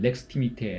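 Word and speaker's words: extimité: 다시 가지고 와서 설명을 드렸어요 외무성 이라는 것은 xt 밑에 라고 발음을 하는데 그런 서로 이건 원래 있었던 단어가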